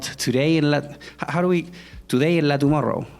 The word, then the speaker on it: Today en la Tumorrou: It should be like that, how we pronounce it, right? Or should we go like Today in La Tomorrow? Today in La Tumorrou. Yeah, Today in La Tumorrou, right? Yeah, that's the way it should work.